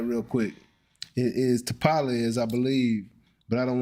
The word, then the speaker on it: Tapales: It is Tapales, I believe, but I don't want to say it wrong. Yeah, that was right. It's Tapales, right?